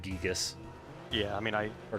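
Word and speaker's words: Giygas: He doesn't know because he said Gigagas when it's like Gigas Yeah, I mean, I or Gigas.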